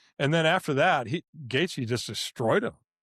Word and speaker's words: Gaethje: And then And then the Gaskey How's he say How do you say his name? Gaethje.